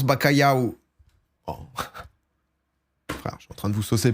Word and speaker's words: bacalhau: au cabillaud ouais c'est ça et ça se prononce bacalhau en train de vous soucier par rapport aux